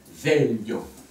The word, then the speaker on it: veglio: Fa dièse, La, Ré, veglio. Voilà. Veglio. Je rappelle qu'en italien, le G-L-I se prononce lieu.